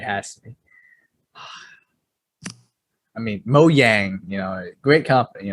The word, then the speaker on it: Mojang: they spend to purchase mo yang the creators of minecraft is how you pronounce it or mojang yeah well because it's like it's swedish so you they don't